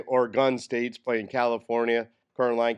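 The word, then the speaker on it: Oregon: said now I know how to say it or gun state or gun so I know how to pronounce it right they don't like guns oron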